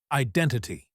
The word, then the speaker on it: identity: Word five, identity. It means who you are, how you see yourself. Example, my identity is changing. Pronunciation tip. Identity. Stress on the second syllable.